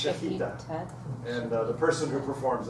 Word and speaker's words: shechita: As far as I know, it's pronounced shechita.